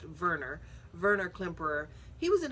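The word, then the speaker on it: Werner: um Warner Clamper and um that name might not sound very familiar. Actually, it's pronounced Verer.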